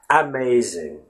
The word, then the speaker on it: amazing: you don't really say amazing right you just say amazing and the first sound in this particular word is the typical schwa sound a vowel when it's